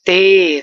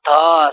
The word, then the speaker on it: ت: The next thing, we must remove the Urdu pronunciation here, like be, te, the. No, we can't read like that. But we must read ba, ta, tha.